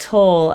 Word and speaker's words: Tull: And it is pronounced toll as it rhymes with seagull.